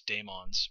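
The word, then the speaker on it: The Dæmons: want to pronounce that I think it's Damons is the way you're supposed to pronounce that now granted it's not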